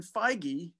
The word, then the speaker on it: Feige: you see the attitude of someone like kevin feige is that how you say his name i